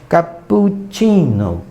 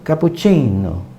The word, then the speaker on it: cappuccino: tá brincando ou então a palavra cappuccino italiano também tem dois países e 26 Então significa que as a sílaba aqui I do caput capu e Ninho vão ser prolongada Então imagina você falando